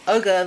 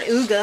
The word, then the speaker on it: Uga: ugga University of Georgia it's pronounced uger though I think it's uger I hope it's not UGA I think it's uger look